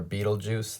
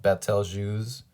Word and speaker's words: Betelgeuse: So we've got, a lot of people call this Betel or Betelgeuse, this star. I call it Betelgeuse. It doesn't matter how you pronounce it.